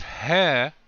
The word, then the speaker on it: he: it's all purple so in the lakota it's pronounced as hai okay it's not he it's but then the